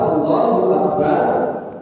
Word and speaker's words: Allahu Akbar: Dan dalam pengucapan Allahu Akbar tidak ada yang panjang kecuali lamnya lafaz Allah.